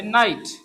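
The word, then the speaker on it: knight: हमारे पास है knife, word हमारे पास है नाइट, नाइट सोल्जर वो कहते हैं, ठीक है, नाइट। तो मैं इसमें क्या है, के साइलेंट है।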